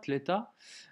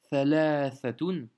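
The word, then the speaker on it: ثلاثة: Alors je sais qu'en dialecte ça se dit, en tout cas je pense, thalatha ou thalatha, tleta. En arabe, on va dire littéraire ou arabe moderne, ça sera comme ça.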